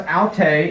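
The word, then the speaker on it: αὐτή: the help for pronunciation these two words look exactly the same don't they this is pronounced alte and this is pronounced halte see the difference alte the difference in the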